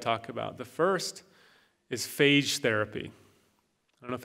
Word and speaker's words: phage: Some people pronounce them phage, I say phage, which can cause bacteria to explode.